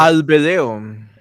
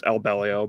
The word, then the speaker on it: Albelio: I appreciate that no one knows how to pronounce it right. I think I heard you say it in a video once. Albedeo. And it's Albelio, but yeah. Albeleo. Okay. I was a 50-50 shot. No, it's Albelio.